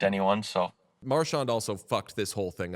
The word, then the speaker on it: Marchand: Marchand also fucked this whole thing up because initially he came into the league, he was Marchand, and then he said it was Marchand, and then he went back and forth, and there was like a real snip, snap thing.